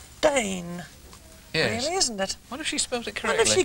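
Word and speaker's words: Daine: Hertfordshire lucky Diane and her name is spelled d-a-i-n-e Dane yeah isn't it I've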